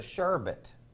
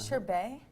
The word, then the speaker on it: sherbet: my favorite is it it's a sherbet that's how you pronounce sherbet not sure BAE no no wait girl